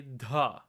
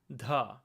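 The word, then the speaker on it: ध: To properly pronounce dha, you have to take the voiced th sound, as in this, the. Instead of making it the, you're going to say dha, dha.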